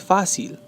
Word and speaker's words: fácil: Fácil. Muchas veces, the students, like Spanish too, they like to say fácil. Pero no es así. Es fácil. Fácil. The stress is over the A.